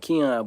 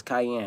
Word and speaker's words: Cayenne: Some people even pronounce that Keon, but it's Cayenne.